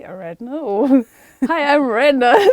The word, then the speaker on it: Aaradhna: I know, I've said my name wrong the whole time too. I mean, I always knew that that's not the proper pronunciation. Like my dad's always said Aaradhna, you know. When I go see family, it's Aaradhna.